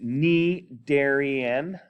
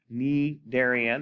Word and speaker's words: Cnidarian: a look okay so it's spelled with the c but it's pronounced ne darien knee darian as you see right